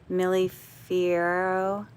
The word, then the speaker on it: Millefiori: How do I pronounce that? Millefiori.